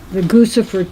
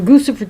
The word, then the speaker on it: Guccifer: How do you say that? Guccifer, Guccifer 2.0. Lucifer too? Yeah, It does kind of sounds like Lucifer.